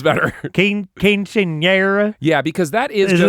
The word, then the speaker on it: quinceañera: I'm certainly mispronouncing it. Quinceañera.